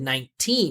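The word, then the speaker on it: nineteen: He did a great job letting us know that it's not 90 or 90, right? He said 19. He put teen. It made that the primary stress.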